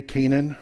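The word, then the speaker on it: Canaan: you notice that i i'm trying to use the jewish pronunciation we say kanan right where do we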